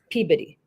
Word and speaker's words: Peabody: in the first place like it says Peabody but it's peid that's how they or